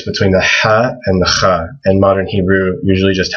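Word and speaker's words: خ: And this is also hard to pronounce. But people usually write a KH for Kha. It's similar to, like in Hebrew, people say Chanukah. It's the exact same sound in Arabic.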